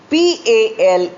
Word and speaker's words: pail: PALE and PAIL are homophones of each other because they are pronounced exactly alike, but their spelling is different, as you can see. The meaning also is different. PALE is pale, light in color.